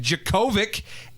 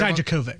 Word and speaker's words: Dijakovic: Bobby Fish, Kyle O'Reilly, and Roderick Strong versus Tommaso Ciampa, Keith Lee, Dominic Djokovic, and Did I get that right? Dijakovic.